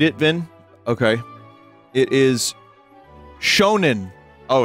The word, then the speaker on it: Shonen: after I am done later is it not pronounced Shen it's $3 on TCG player Oh sick oh oh man I can buy myself a Dunkin Donut reread it Vin okay it is Shonen oh it's Shonen Jump Tales from the Crypt